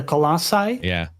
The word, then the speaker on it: Colossi: the giants in Shadow of the Colossus, the Colossi. Yeah. Is that the correct plural? That's correct pronunciation, yeah.